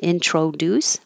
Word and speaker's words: introduce: me let me and instead of an o and introduce make it an uh because it's not stressed introduce without i don't